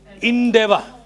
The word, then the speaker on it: endeavor: This word is pronounced endeavor. Endeavor and not endeavor.